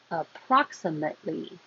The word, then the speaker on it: approximately: Approximately. Hold the T. Don't release that because there's an L right after it.